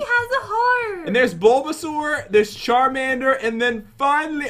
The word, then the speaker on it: Bulbasaur: Bulbasaur.